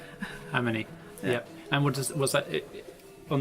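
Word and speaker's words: AmonI: but we pronounce it Amini. Amini, yep.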